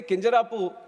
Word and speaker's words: Kinjarapu: And when some people say Kinjarapu, there might be some problem with them. They can't pronounce it the way I pronounce it.